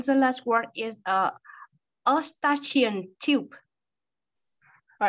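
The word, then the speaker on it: Eustachian: so it's mutation though so EU is like it's like Europe right so you mutation tube perfect all right so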